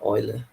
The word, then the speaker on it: Euler: Se pronuncia Euler, né? Ele é alemão, suíço.